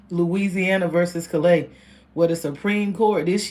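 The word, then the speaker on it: Callais: That's the French saying of it. It's it's C A L L A I S but it's pronounced Louisiana versus Klay where the Supreme Court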